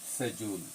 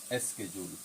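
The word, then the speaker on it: schedule: আমরা কোন কিছু কোন পরিকল্পনা কোন কিছু করব যে আমার শিডিউল আছে আমরা বলিশিডিউল।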